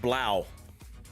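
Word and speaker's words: Blough: in the chat that it's pronounced Blau. But like you said, sometimes the chat knows more than you. Well, when he was with Detroit, it was Blow because he blew.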